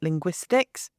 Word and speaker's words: linguistics: So if you take a word like linguistics, then this the stress is on the second syllable. It's on the gw.